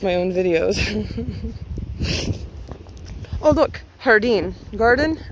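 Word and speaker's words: jardín: own videos oh look hardine garden and espanol is hardine but it's spelled j-a-r-d-i-n i believe there's an accent above the eye hardine as a garden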